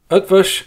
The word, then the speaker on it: Eötvös: English is a language of exceptions and curveballs up fish is a Hungarian surname it has a silent